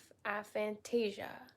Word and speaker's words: aphantasia: You don't have aphantasia.